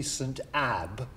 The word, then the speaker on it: Ebbe: Before I answer that question, I must pedantically point out the correct pronunciation should be St. Ebbe, but we'll stick to Ebbe because it's what we call around here, so fair enough.